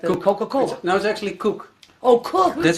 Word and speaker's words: Koek: used to say it wrong but it's like coke right like little coca-cola knows actually cook oh cool that's how you spell it like cooking yeah oh cooking that's the Dutch way to say it cook okay now you told me that it means